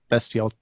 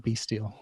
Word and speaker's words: bestial: we all have those bestial tendencies yeah really excited i pronounced bestial right and not b steel i didn't do a